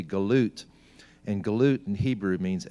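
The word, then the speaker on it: גלות: the Galatia, the Galatians, in Hebrew the word Galatian would be pronounced or be spelled with a gimel lamed and a tav, and it would be galut, and galut in Hebrew means exiles.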